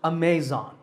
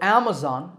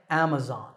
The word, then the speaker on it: Amazon: word is commonly mispronounced Amazon when you say it correctly the first syllable is app and the stress is on this first syllable so Amazon is correct once again Amazon next up is Disney